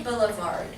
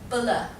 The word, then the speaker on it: Boulevard: Everybody say Boulevard. Boulevard. Not boule, bulla. Boulevard. Boulevard. Boulevard. Alright, not boulevard, alright?